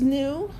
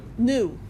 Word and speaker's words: nu: It's 'cause there's This is nu. It's a Greek letter. And this is V. This is frequency, that's velocity. Yeah, that's smart, right? It's pronounced what? Nu.